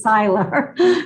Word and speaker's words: Seiler: myself to get my name right, because I'm pronounced as Seiler.